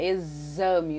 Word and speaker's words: exame: Vamos ter o X também com som de Z, como nas palavras existir, execrar, exame, todas, olha, quando você pronuncia exame, o som forte aí é de Z, mas nós escrevemos palavras